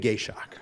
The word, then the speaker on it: Gacioch: doing that since first grade with teachers gshock great thank you attorney okay please Court Madam